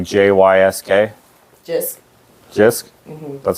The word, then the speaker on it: JYSK: Jisk?